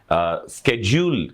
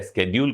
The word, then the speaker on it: schedule: दूं, वो है अनुसूची, जिसे इंग्लिश में स्केड्यूल कहा जाता है या स्केड्यूल कहा जाता है और आम प्रोनाउंसिएशन में से शेड्यूल बोल देते हैं।